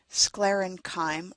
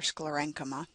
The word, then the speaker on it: sclerenchyma: Parenchyma cells, or parenchyma, depending on how you pronounce it, collenchyme or collenchyma, sclerenchyme or sclerenchyma, water conducting cells that